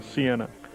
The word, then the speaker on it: Siena: By the way, this is an extremely colorful city, Siena.